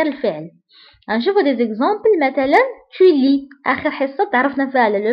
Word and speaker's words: tu lis: مثلا tu lis, آخر حصة تعرفنا فيها على لو فيرب lire وقلنا je lis, tu lis, ما كنطقوش S.